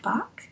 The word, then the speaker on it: Bach: Women Finish Rich by David, I believe it's pronounced Bach, David Bach.